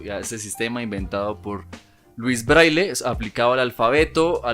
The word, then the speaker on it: Louis Braille: es el nacimiento de louis braille que a propósito quiero mencionar que esa es la pronunciación en español del nombre porque en francés es un poco diferente enlace el 4 de